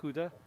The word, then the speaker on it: Gouda: You know, like Gouda cheese. It's pronounced Gouda in Dutch.